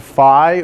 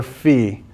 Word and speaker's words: Phi: Greek letter is no yeah this is called Phi or fee P it's pronounced people pronounce there's like a big argument about how you pronounce this okay Phi or fee all right I don't care which way you